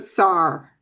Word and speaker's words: Sar'h: So there's not really another A in there to make it.